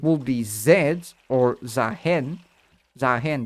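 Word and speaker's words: Xayah: Zahen, that's how you pronounce the name. I mistakenly say Zahin a lot of times.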